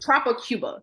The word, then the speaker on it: Tropic Cuba: So Tropic Cuba.